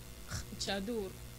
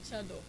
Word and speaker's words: chador: And we have what we call the chadur or chador. Yeah, that's like, we have different pronunciations for that too.